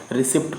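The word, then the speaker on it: receipt: अब फास्टर हो गया, रिसिप्ट का ही कल जैसे एक हमने रिसिप्ट बनाया था वीडियो, इसमें पी साइलेंट था। रिसिप्ट में होता था रसीद, उसको रिसीप्ट पढ़ते हैं ना कि रिसिप्ट।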